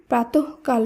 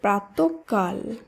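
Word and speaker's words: প্রাতঃকাল: দুবার উচ্চারণ হবে এই সূত্রেই প্রাতহকাল নয় শব্দটি শুদ্ধ উচ্চারণ হবে প্রাতকাল পুনঃপুন এটি ভুল উচ্চারিত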